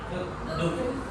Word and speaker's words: doek: Tulisannya doek, bacanya duk.